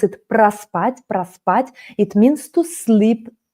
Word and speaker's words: проспать: So, проспать, we pronounce it проспать, проспать.